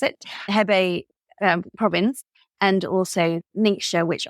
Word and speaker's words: Hebei: And I got some excellent Marselan from the Hebei, as they kept telling me to pronounce it, Hebei province, and also Ningxia, which obviously is the most well-known Chinese wine region.